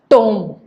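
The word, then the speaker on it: tomb: We pronounce this as tome. Now, the sounds which we hear is t, o, and m. Nowhere we are hearing the sound of this last alphabet B.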